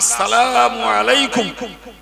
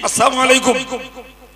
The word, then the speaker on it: আসসালামু আলাইকুম: আমরা আসসালামু আলাইকুম এটা শুদ্ধ, যদি আমরা ব্যস্ততায় শুদ্ধ না করে বলি আসসালামু আলাইকুম, আর ওই লাম আলিফটা আর উচ্চারণ হলো না, তাহলে প্রকারান্তরে শান্তির জায়গায় ধ্বংস কামনা করা হলো।